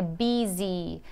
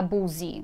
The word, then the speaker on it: busy: relação a pronúncia né que é bisi a gente escreve b u Olha o aqui ver o s&y Mas a gente não tem som de uva não vou falar busy não é bem base desição dizer